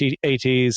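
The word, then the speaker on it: AT-AT: Uh, we see some addats at AT ats, however you want to pronounce it. I've always said addats.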